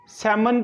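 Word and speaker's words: salmon: हम कहते कहते सब्सक्राइब अगर आप इसको सैमन पड़ते हैं इसमें साइलेंट है एक मछली की एक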